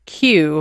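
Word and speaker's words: queue: e isn't the word q like you've got a like your waiting in Q for tickets a line yes isn't the word q just the letter Q followed by four silent letters four q u e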